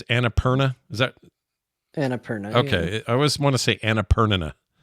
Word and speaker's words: Annapurna: It's Annapurna.